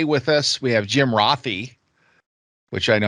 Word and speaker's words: Rathe: and uh today with us we have Jim rothy which I know how to pronounce now after working with you for several years and pronouncing it wrong it's rothy uh Jim is one of our project delivery